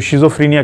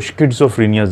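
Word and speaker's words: schizophrenia: जहनी मर्ज होता है जिसको हम तो शिज़ोफ्रीनिया कहते हैं, लेकिन गोरे इसको स्किज़ोफ्रीनिया आमतौर पर प्रोनाउंस करते हैं, जो कि बुनियादी तौर पर एक जहनी बीमारी है।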